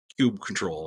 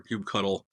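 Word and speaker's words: kubectl: is modify it with Cube control or cube cuddle for it pronounce both ways um but that is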